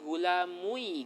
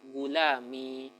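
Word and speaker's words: غلامي: Nggak bisa kita katakan gulamui gitu, nggak bisa. Ya, dia harus mencocoki ya, dan ya itu cocoknya dengan harokat kasroh, maka kita bacanya gulami.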